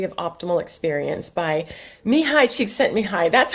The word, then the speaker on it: Csikszentmihalyi: Flow, The Psychology of Optimal Experience by Mihaly Csikszentmihalyi. That's how I pronounce it. I know Brett calls him Mike, but I just can't do it. So I'm going to call him Csikszentmihalyi.